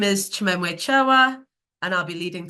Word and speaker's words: Chimwemwe: So if you can see on there, there's the spelling phonetically. So it's Chimwemwe. Chimwemwe. Chimwemwe. Chimwemwe.